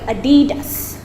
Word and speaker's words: adidas: called adidas adidas so also pronounce it american so you call it adidas not a guidance or anything else adidas okay the last two